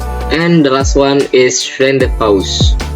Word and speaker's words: rendezvous: And the last one is rendezvous. The Z is silent.